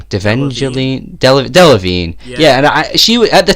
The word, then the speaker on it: Delevingne: Delevingne.